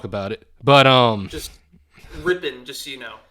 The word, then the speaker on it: Rypien: it but um just ripping just so you know he pronounces it ripping oh it's ripping he's he's ripping it